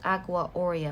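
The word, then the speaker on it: aqua aurea: it known as the agua aura or oria it's how it's pronounced agua oria or the gold water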